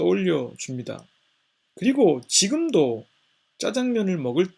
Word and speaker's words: 짜장면: 장면 이라고 하는 것은 자장면 이라고 발음하는 것보다 짜장면 이라고 발음을 해야 왠지 좀 더 춘장 에 맛이 느껴지는 것 같습니다 제가 어린 시절에 이 짜장면은 졸업식 날에 먹는 음식이었습니다